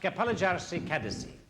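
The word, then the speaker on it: Kapalıçarşı: you don't mind perhaps I can assist it's pronounced Kapalari Kadesy thank you Mr scard and I'd be obliged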